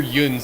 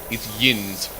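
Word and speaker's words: yinz: Although they generally spell it more like, and maybe even pronounce it more like there's an I in there instead of a U. The ones that are really like that, you want the accent of that particular area, then yeah, it's Yins. Spelled and pronounced with an I, basically. Yeah, I've also seen the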